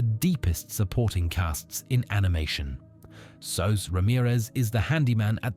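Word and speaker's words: Soos: Sos Ramirez is the handyman at the Mystery Shack and becomes like an older brother to Dipper and Mabel. His name is short for Jesus, pronounced in the Spanish way.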